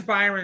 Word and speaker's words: Byron: Well, my name is Byron, and I've been called Brian my whole life, so I'm very sensitive to when people call other people the wrong name.